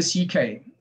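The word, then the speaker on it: Szekely: posthumously in 2019 i'll now turn to eva ck whose surname is spelled s-z-e-k-e-l-y c k was 17 in the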